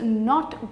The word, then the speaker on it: know: n o W but how do we spell it it's spelled as without a cake pronounced without a K that's no I know something I'm